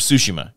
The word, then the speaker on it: Tsushima: So tomorrow, Ghosts of Tsushima, and I say Tsushima because that's how they say it in the game.